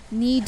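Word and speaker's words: knead: नीड, नीड में के silent है और नीड का मतलब है गूंदना।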